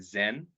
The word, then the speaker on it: Zen: So Chan is the Chinese pronunciation. In the West would be more familiar with Zen, which is the Japanese pronunciation.